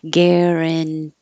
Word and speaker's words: guarantee: Guarantee. Your voice is on, then off, then on, because it stays a T because it's in the stressed syllable.